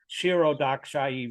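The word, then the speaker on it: Kshirodakashayi: Kshirodaksha. You Yes, say pronounce the K and then you say Kshira. Kshiro. Kshirodakshai Vishnu.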